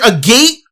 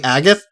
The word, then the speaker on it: Agate: I didn't I like it was either a gate or agate and I went with Agate, right? Turns out his name is actually Agath.